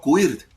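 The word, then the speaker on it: queer: o transgénero, la B de bisexual, la Q del inglés de inglés antiguo que pronuncia más o menos quir que es no binario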